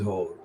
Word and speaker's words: Hoare: The pronunciation is Hoare, but the spelling is very different indeed.